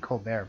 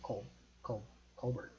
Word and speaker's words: Colbert: I mean, Colbert probably, but Fallon is huge.